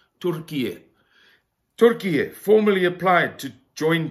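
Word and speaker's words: Türkiye: We're meant to pronounce it Turkiye.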